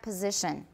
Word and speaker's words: position: Everybody try the front back position. The front back position. The front back position. The front back position. Not position. Position. S is pronounced as Z. And then the vowel is I, not E.